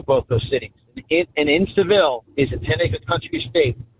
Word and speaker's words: Seville: And guys, write down this city, Waileka, Waileka, however you pronounce it, Waleka, Florida, and Seville, like Cadillac, Seville. That's how I remember that one very easily.